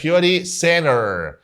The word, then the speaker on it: beauty center: اول حاجه كلمه بيوتي ما اسمهاش بيوتي، اسمها بيوتي. بيوري. هنا التي حولناها لدي خفيفه فهنقولها بيوري. اول حاجه بيوري سينر، ما اسمهاش سنتر، سينر، بيوري سينر.